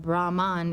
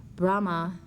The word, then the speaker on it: Brahma: is in the beginning Brahma is the name for the first person of the Hindu Trinity father as in Brahma Vishnu Shiva there is no n on the end of that name and if you think